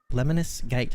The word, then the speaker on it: Lemnis Gate: but mighty goose right booby scarlet nexus and lemonis gate that's how you pronounce that one that's covered by me um